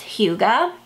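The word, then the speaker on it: hygge: it's h y g g e and it's pronounced Huga and it tells about like where that came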